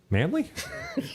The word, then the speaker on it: Manley: is Richie he says Dexter Manley pronounced Dexter manly nice confus me here